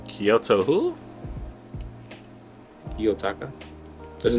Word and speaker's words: Kiyotaka: He's Kyoto Taka from Classroom of the Elite. Kanojikin. I don't know how to say his name. Kyoto who? Kiyotaka.